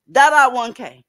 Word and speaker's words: Dada 1K: Dada 1K.